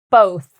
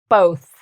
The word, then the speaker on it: both: Both. So this is one of we have our B sound at the front, but then we have our TH sound where you use your tongue and your teeth. Both.